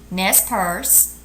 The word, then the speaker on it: Nez Perce: Once again, the different tribes are Inuit, Kwakiutl, Nez Perce, Hopi, Pawnee, and Seminole.